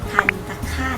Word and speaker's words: ทัณฑฆาต: ก็ คือ เครื่อง หมาย ทัณฑฆาต นั่น เอง ค่ะ คำ นี้ อ่าน ว่า ทัน ค่ะ คาด นะ คะ แต่ ถ้า มี